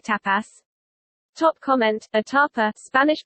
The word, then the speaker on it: tapa: Top comment: a tapa, Spanish pronunciation, tapa, is an appetizer or snack in Spanish cuisine and translates to small portion of any kind of Spanish cuisine.